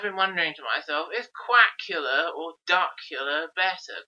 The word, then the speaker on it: Quackula: And I've been wondering to myself, is Quackula or Duckula better? Quackula properly actually rhymes with Dracula, is quite nice, but Duckula also has the initial D like Dracula. Interesting point that.